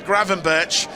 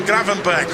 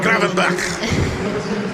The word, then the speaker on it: Gravenberch: By the way, you might have well have heard a few different pronunciations for our new signing from Bayern Munich. A lot of people have said Ryan Gravenberch, but it's not.